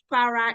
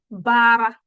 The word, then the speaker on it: para: You have said para is aria, para. If you look at my pronunciation, it is pa, not ba, pa. That's what I said. Para, not bara.